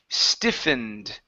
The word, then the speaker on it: stiffened: The E is silent, ED, stiffened.